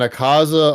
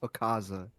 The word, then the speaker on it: Akaza: Uh, look, I'mma take I'm taking a Kaza over res. If we talking about main main uh villains of the movie, I'm taking say the syllables correctly. Akaza, not Aaza.